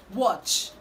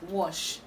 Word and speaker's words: watch: But the right to pronounce this word is watch, watch, watch. You need to ch that sound there. It's not sh, it's not wash, okay? It's watch, watch, watch.